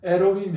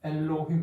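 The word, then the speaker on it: אֱלֹהִים: 근데 우리가 일반적으로 메렉 이렇게 읽는다고 이렇게 보는데 원래 L이라는 발음은 동서고금을 막론하고 L이라는 발음이 중간에 등장하면 동서고금을 막론하고 리을을 두 번 넣습니다. 엘로힘도 마찬가지입니다. 에로힘이 아니고 엘로힘 이렇게 있습니다.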